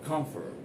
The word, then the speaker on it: comfort: it in India but Americans will say Comfort Comfort are is this pronounce it for not Fort comfort well a few more